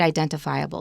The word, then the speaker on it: identifiable: the first thing is the stress of the word identifiable now normally we say that one one word has only one main stress like habitat habitat the stress is on the first syllable but this one really has three stresses identifiable i identify they're all stressed identifiable of bird watchers